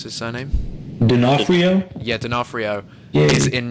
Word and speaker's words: D'Onofrio: So Jurassic World is obviously filming in New Orleans, and we now have confirmation that Vincent Assis, can you pronounce his surname? D'Onofrio?